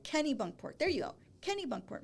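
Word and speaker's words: Kennebunkport: Like Kenny Bunkport.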